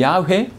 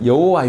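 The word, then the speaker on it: 야훼: 스스로 있는 자 나 아 이게 자음이 없어요 아이모 의미 없어요 작업만 쓰 있다구요 그거를 있어 이렇게 자음을 약간 넣어서 바로 많이 비슷한 발음이 야외 또는 여호와 요 는 뜻입니다 그게 나는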